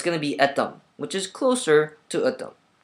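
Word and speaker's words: Euddeum: They spelled it E-U-D-D-E-U-M. When most people see that, they pronounce it as Eudeum, which is not my name. My name is Eudeum. Now, Eudeum, to get that correctly, is extremely hard.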